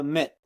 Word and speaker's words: Amit: now I it's like I want a mitt it's a baseball M you know very easy very intuitive very simple so I appreciate that